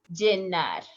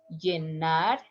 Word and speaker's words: llenar: Llenar. How you pronounce? Llenar, llenar, llenar. A little bit stronger.